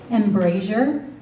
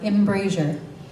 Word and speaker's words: embrasure: Your word has two acceptable pronunciations, embrasure or embrasure. Embrasure.